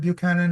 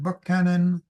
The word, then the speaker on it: Buchanan: You know, it was not President Buchanan, it was President Buck Cannon, for example.